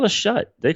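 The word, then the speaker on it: Schutt: But you're not sure if that's how it's pronounced. It's shut. S-C-H-U-T-T.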